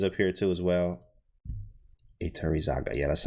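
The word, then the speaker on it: Iturrizaga: Iturizaga. There we go. Got him. Iturizaga. Yep. There he is. And then Kostia. Kostia is up here too as well. Iturizaga.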